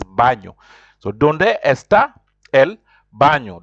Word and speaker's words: baño: And baño, you see, there's n with something on top, the accent on top. That's why you have to pronounce it baño.